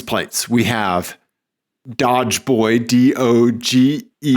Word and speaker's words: Doge: We have Dodge Boy, D-O-G-E. I believe it's pronounced Doge Boy.